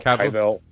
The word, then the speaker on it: Cavill: I always say his name wrong. Henry Cavill? Cavill.